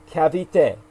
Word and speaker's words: Cavite: REM remind us that Cavit city in the Philippines is pronounced Cavite Cavite Cavit thank you thank